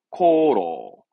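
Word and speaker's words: 功労: 발음은 네, 세고, 세고. 성공은 세고. 이게 공로자, 공로를 말하는 거죠. 예, 코로.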